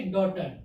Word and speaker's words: daughter: ठीक, यानी डॉटर। कितना बचा, DAUTER, डॉटर। डॉटर मीन्स पुत्री या बेटी। देखिए GH का प्रोनाउंसिएशन करते समय GH का उच्चारण भी नहीं होगा, जैसे लिखा डॉटर, इतना ही लिखा डॉटर।